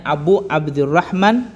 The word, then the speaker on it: Abu Abdurrahman: Kalau dalam redaksinya di sini tulisannya An Abi Abdurrahman. Tapi kalau kita nggak pakai an, maka dibacanya Abu Abdurrahman.